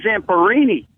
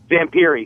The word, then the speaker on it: Louis Zamperini: Hey, O&A, this guy knows the story very well, but the fucking guy's name is Louis Zamperini. Oh, I'm sorry. I mispronounced his name. What'd you say? Zamperini.